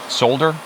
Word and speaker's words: solder: While it's hot, we're going to put some fresh solder on it. Solder, as uh I'm supposed to pronounce that L, which I'm not very good at pronouncing the L.